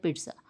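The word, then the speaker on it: pizza: pronunciation की तरफ जाए तो इसको बोला जाता है पिज्जा पिज पी और साथ में ट की थोड़ी आवाज आएगी और साथ में ज पिज्जा नेक्स्ट वर्ड है हमारे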